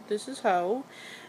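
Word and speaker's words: Heaux: So, we have here, this is Ho, and it's spelled H-E-A-U-X.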